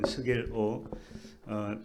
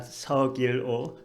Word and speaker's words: Sugil Oh: I'm Sugil Oh, not Seogil Oh, Sugil Oh.